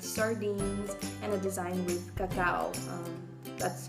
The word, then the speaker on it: cacao: We have a design with quinoa, which is an ancient grain, a design with sardines, and a design with cacao. That's how you pronounce it in Spanish.